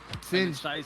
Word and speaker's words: Sinj: I believe it's Sinj. Sinj. It stays like that, Sinj. Yeah. I'm like, yes, I remember. He corrected me once. So I feel bad, man. We've both been saying it wrong, but that's my fault.